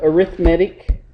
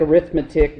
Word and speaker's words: arithmetic: okay and the uh arithmetic mean looks like arithmetic but pronounce it arithmetic the arithmetic mean uh